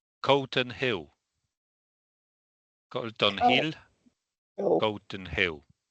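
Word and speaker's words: Calton Hill: It's a clearer a sound. A sound. All right. So, it's a version we didn't really have. But the second element is more like hill than hill. It's hill. Hill is okay. So we need a vowel like an a uh between uh after k. Good after letter c.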